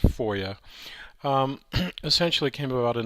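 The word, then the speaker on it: FOIA: So the the the Federal Freedom of Information Act pronounced FOYA um essentially came about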